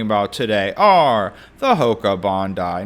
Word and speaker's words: Bondi: And yes, the pronunciation is Bondi, not Bondi. It's named after Bondi Beach in Australia with the spirit and styling of the shoe apparently taking influence from the beach and its surf culture.